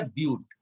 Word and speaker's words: ब्यूट: 4 के लिए बेटा ब्यूट, BUT, बट नहीं बोलना उसको, प्रोनाउंस उसको ब्यूट करेंगे।